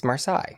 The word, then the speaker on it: Marseille: Marseille. We'll use the correct pronunciation there.